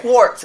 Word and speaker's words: Quart: mine quart 720 oh you remember it quart like quarter cuz that's how my mother pronounces my name I don't know why